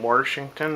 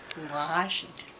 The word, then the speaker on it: Washington: Did you ever pronounce it Warshington at any point? No, do you? Nope. Warshington? Washington.